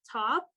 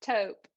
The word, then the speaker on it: taupe: Top or taupe? How do you say it? I think it's taupe.